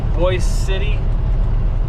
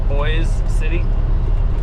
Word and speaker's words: Boise City: Oklahoma go through Boise City Oklahoma which is pronounced voice City almost like it's the boys City but it's spelled Boise City if you uh